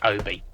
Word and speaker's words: Obi: It's either Obi or Ubie Strip. Um, it's Obi. Obi strip. An OB strip. Uh, and like Kenobi, it goes around the